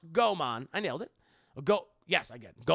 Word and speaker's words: Goemon: Pronounced Goemon.